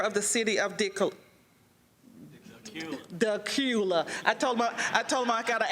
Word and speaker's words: Decatur: still haven't heard of Decatur until today, Dracula with no R, okay?